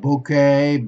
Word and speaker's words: bouquet: have to remember about bouquet bday cabaret cash a groom a rakish a valet and baby you okay not not pronouncing with the T okay so this is